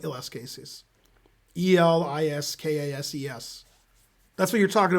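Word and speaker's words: Eliskases: i'm pronouncing it wrong but it's it's it's spelled like ls cases e-l-i-s-k-a-s-e-s that's what you're talking about right pat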